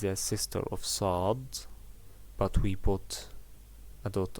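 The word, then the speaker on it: صاد: it is pronounced like sod sod yeah it's look like the s in english but you make it a little bit hard and you stretch your lips forward to make it right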